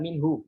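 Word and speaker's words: منه: Nah, ketika wakaf kita mesti jelaskan min, min. Ya, jadi nunnya jelas dengan sifat bainiyahnya min, min. Lalu baru haknya keluarkan min, ya gitu ya, min. Nah, gitu. Jadi jangan min, hanya hilang. Itu tidak diperbolehkan.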